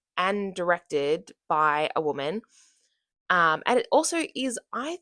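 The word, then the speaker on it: Yoo: Uh, it stars Greta Lee and Teo Teo U. Uh, T E O Y O. I'm pretty sure it's pronounced U.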